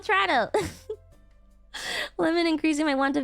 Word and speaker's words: Toronto: No, you that is how you say it. It's called Trato.